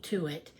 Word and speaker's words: Tuit: Um But, um Yeah, my last name is Tuit, t u i t. But, uh it's the e is silent. So, it's uh Tuit.